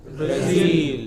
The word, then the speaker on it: Brazil: For no rhyme or reason, which are pronounced differently. What is the next? Berlin. Berlin. What is it? Berlin. Next. Brazil.